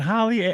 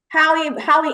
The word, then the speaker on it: Hallie: Hallie, like bootleg Halle Berry. That's how you remember. Okay. I didn't see the I. I just saw the two L's, so I just want to make sure I got it right.